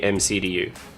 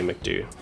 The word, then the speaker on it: MCDU: guys fly real airbus the european pilots always say mcdu yeah i've only ever heard americans say mcdew so that would make